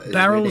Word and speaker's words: Beryl: His name is Beryl Stern Pride. Excuse me. I'll write it. Honestly, didn't even notice how much that was like the word barrel.